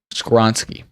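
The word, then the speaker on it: Skoronski: our draft is right they're gonna take Peter scoring ski we decided yeah that's how you say his name squonski I like how we were just like oh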